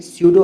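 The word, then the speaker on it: pseudo: दूसरा है स्यूडो। ये फिर स्यूडो नहीं है, ये स्यूडो है सिर्फ, तो इसमें पी रहेगा साइलेंट, पर जब स्पेलिंग आप लिखोगे तब आपको स्पेलिंग यही लिखनी पड़ेगी।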